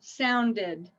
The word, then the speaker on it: sounded: It's a D. So it adds another syllable. Sounded, sounded.